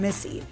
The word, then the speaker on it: Misi: Brooklyn she recently opened Missy pronounced like her name but spelled differently Robins initially learned the